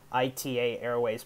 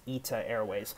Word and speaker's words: ITA Airways: i thought it's i thought it's like uh ita airways but um guys on youtube told me that uh it's pronounced it's it's actually pronounced eta airways this is actually a new airline in in